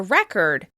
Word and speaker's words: record: something for the future, you create a record with stress on the first syllable: REcord, REcord. When you capture something in writing, video, or audio format, you record it, with stress on the second syllable: reCORD, reCORD.